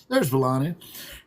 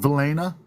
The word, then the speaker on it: Valaina: So it isn't always just there's Valaina. I keep saying it wrong. Valaina.